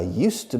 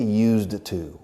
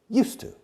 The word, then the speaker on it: used to: Rioja used to be, antes fue, used to. Se escribe used to. But we don't say used to. We say used to. Used to. The pronunciation is very fast.